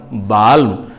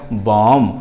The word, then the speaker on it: balm: तो पहला जो कॉन्सोनेंट लेटर L है वो साइलेंट हो गया, तो BALM का रियल प्रोनाउंसिएशन यानी उच्चारण हो गया बॉम, और बॉम का हिंदी अर्थ होता है मरहम।